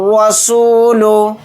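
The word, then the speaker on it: الرسول: एक हर्फ है तो यहां पर अलिफ और लाम दोनों को साइलेंट कर देंगे लाम को डायरेक्ट के साथ मिलाकर पढ़ेंगे य रसूल हमजा जबर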